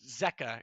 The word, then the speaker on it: zqk: Apparently it's pronounced Zeca, and it's a common Brazilian name.